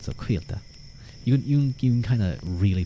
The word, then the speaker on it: Cailte: and then Quilta is, it's like wheel, but with a K, and then just a little T at the end, so Quilta.